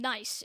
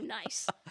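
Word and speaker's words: gneiss: of okay and so niceoid is basically gne iss and then oid at the end there so relating to nice so speaking of words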